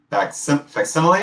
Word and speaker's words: facsimile: By the way, with the Fastest Smile, especially, am I pronouncing that correctly? Facsimile?